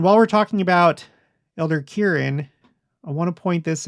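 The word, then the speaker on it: Kearon: Yes, this is pronounced Kieran.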